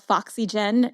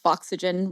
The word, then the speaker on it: Foxygen: So, of course, it's pronounced foxygen, rhyming with oxygen.